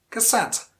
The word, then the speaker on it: cassette: and then sent but the stress falls on the second syllable note on the first